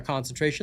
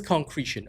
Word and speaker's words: concretion: Is it pronounced concretion or concentration? Let me just double check that. It is concretion.